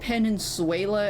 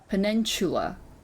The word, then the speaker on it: peninsula: That's how you Just pronounce ghosts and that. vagrants and teenagers making out. Peninsula? I've always said Peninsuela as a joke, but then that's also because I didn't know how to actually pronounce it.